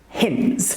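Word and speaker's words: Heinz: Um we pronounce it Hins. It's Hins tomato soup.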